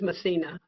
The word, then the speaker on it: Masina: yeah analyst is um is that Masina Porter am I pronouncing that correct is it massina somebody I'm sorry M our our analyst is massina the county budget office